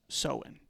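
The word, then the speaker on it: Samhain: Now, because of its spooky nature, Halloween has been tied back to the ancient Celtic holiday of Sen. And yes, that is how it's pronounced.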